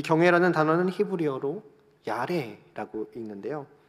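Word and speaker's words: ירא: 이 경외라는 단어는 히브리어로 야레라고 읽는데요.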